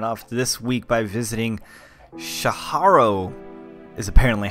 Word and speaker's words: Tjarho: We're kicking it off this week by visiting Tjarho, is apparently how you pronounce his name.